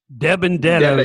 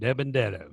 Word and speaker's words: DiBenedetto: Debendetto. That's how it's pronounced. Debendetto.